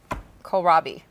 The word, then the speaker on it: Kohlrabi: Kohlrabi. Never even heard of it. I'll guess K-H-O-L-R-A-B-E. So close. Kohlrabi. So close. I've never heard the word. It's Kohlrabi. Oh, almost. I think it was your pronunciation that threw me It off.